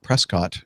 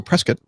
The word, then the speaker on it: Prescott: John Wayne Airport in Orange County, heading to Prescott, Arizona. Prescott. Oh, really? Yep. I've never heard anybody pronounce it that way.